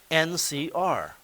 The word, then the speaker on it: nCr: also write that and this thing here is pronounced NC are it it's it's no different in pronunciation or